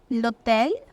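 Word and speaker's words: l'hôtel: Article लग गया है, और एच नॉर्मली फ्रेंच में like 99% ऑफ the times silent ही रहता है, तो एच का कोई साउंड नहीं है, साइलेंट है, तो लोटेल।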